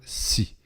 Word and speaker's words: Hsi: Eh bien, c'est à cette question que répond l'histoire du pasteur Si, qui s'écrit H-S-I.